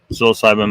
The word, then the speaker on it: psilocybin: It was like, where they used like they found people that had used mushrooms, psilocybin mushrooms, psilocybin mushrooms. I need to get in the habit of pronouncing it correctly. Psilocybin. not psilocybin.